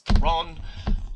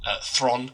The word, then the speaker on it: Theron: And I really want to love it because I love Idris Elba, and I love Charlize Theron. Thron, sorry, that's how you actually pronounce her name, apparently.